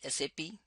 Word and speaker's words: SAP: more what is sap sap is pronounced as sa never pronounced as sap of a tree it is a system